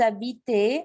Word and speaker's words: habitez: Après, ici, vous habitez, je ne prononce pas le Z.